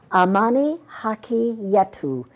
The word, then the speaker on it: Amani Haki Yetu: and the book he's written about his experiences, Amani Haki Yetu, Peace is Our Right, Peace in Kenya. Did I say this right? Did I pronounce this yes, right?